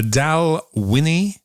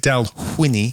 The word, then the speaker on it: Dalwhinnie: week's whiskey is the dowel winny 15-year old scotch single-malt blah blah blah you know how that goes I want to pronounce it dealt Winnie cuz it has a WH in it I'm excited about this